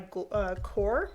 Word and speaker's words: Qor: It's French cerulean made by Core Watercolors from Golden. Core is spelled Q-O-R.